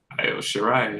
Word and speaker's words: Io Shirai: I always forget how to pronounce the name. Io Shirai, yeah.